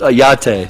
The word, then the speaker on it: YATTE: it on the first yate like it's like a latte with a y there you go that's